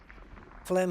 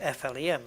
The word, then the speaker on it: phlegm: get used like phlegm phlegm isn't flem it's phlegm is p h l e g m so the ph is pronounced like the f and you don't even pronounce the g at all and people think well